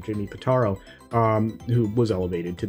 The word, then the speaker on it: Pitaro: obviously he was replaced by Jimmy uh patano pataro I think I don't want to get his name wrong Jimmy pitaro um who was elevated to the chief role